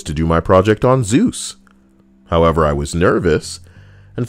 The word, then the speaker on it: Zeus: god i chose to do my project on zeus however i was nervous and for some reason i referred to him as zazus jesus with a z the presentation was like